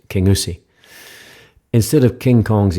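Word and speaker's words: Kingussie: Highland Wildlife Park near the small town of King gasi it's actually properly pronounced King USI instead of King Kong Kong's escape the locals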